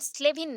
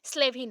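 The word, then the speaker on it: Slavin: दिया था Johnson and स्लेविन ने सेल्विन नहीं है स्लेविंग है एंड मोटिवेशन का थ्योरी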